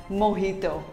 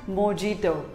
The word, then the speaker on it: mojito: it is pronounced as mohito not mojito simply say mohito the j is pronounced as h though what do you